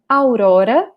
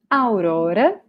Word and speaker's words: Aurora: Okay, and her name, I guess it's the same name in English, right? But we pronounce it different. So this character, the princess, she's called Aurora. Aurora.